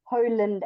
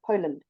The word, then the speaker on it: Poland: empathize that you um instead of going Poland you go Poland because the PO must be stronger than the land do you understand okay so Poland is already two syllables it's Po and land and polish is also to Poe and Niche so your PO is your stronger sound it's Poland not Poland can you hear the difference yes good police good